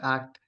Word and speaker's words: ACT: acceptance and commitment therapy which is usually pronounced act with the acronym um